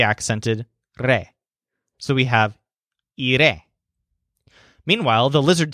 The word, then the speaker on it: iré: To say, I will go home, Joel says, iré a casa. So the stress syllable of the word iré is re, just like the word estaré, which means I will be.